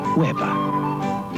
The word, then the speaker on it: Weber: This great German wine is pronounced Weber. Weber when you want fine German white wines.